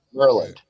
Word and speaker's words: Maryland: you're from that area kind of like Marty's from Maryland no it's merland merland from New Orleans it's